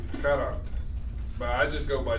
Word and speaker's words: Gerhard: DeBeer give you a quick pronunciation help on his first name. Gerhard.